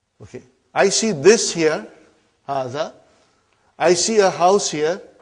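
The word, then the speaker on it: هٰذَا: See, it is pronounced like Haza. But this alif is not written. It is explained in the key also. So it is Haza.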